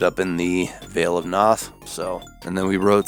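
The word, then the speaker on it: Pnath: death metal band called veil of noth and that's with a silent p p n a which is a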